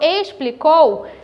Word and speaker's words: explicou: do o ss explicou quando eu falo explicou o meu explicou tem som de s como instante também